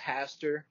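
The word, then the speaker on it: Hastur: a little bit like Pastor even though it's pronounced Haster in the Necronomicon like it's spelled with an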